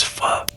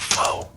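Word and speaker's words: phở: whispering to his friend, it's pho, not pho.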